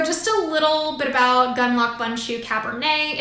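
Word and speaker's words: Gundlach Bundschu: shared with me that the best way to remember how to actually pronounce it is to picture a gun a lock a bun hopefully a cinnamon bun in a shoe so just a little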